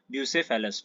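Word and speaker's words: Bucephalous: Alexandria बूसेस ठीक है अ ब्यू से फलस आई एम सॉरी अ मैंने शायद मिस प्रोनाउंस किया था उससे पहले ब्यू सेफल अस ठीक है ये इसका करेक्ट प्रोनंसिएशन होगा ठीक है लिमिटेड एक्सपेंशन डिस्पाइना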